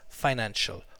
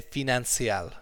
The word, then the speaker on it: financial: quick F pronunciation issues this word is pronounced financial fie like apple pie and then an and then show okay a lot of our European cousins often say fie Nancy al ok our finance she